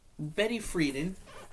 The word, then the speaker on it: Betty Friedan: So, Betty Friedan, that's how you say her name, and you